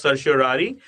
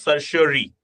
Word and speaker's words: certiorari: in the Latin phrase, it is pronounced as certiorari. Okay, so even if you are pronouncing it certiorari, it is not wrong. Okay, certiorari or certiorari, whatever, we certify here, it is just opposite of prohibition.